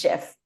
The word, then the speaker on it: GIF: year, and on his deathbed said the correct pronunciation is GIF, and he wants people to keep saying it that way.